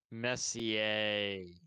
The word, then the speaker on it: Messier: out to you for uh always correcting our mispronunciations like mark messier messier that's right um but it it is sad